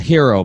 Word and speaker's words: Herro: A hero, by the way. He told me that's how he wants to pronounce.